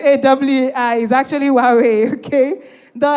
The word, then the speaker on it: Huawei: Hawaii. Hawaii. Really? If you call that Hawaii, how would you call H A W A I? What you're pronouncing as Hawaii? H U A A Wii is actually Wawe.